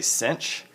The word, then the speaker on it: sinh: you say there so people just say cinch even though there's no CH whatever but it works